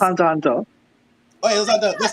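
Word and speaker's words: Hunter × Hunter: the X is silent. It's just It's Hunter Hunter.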